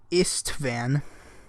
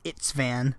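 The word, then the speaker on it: István: I always pronounce it Itzvan, but it makes it sound like that there's a T before the S, but the S comes before the T.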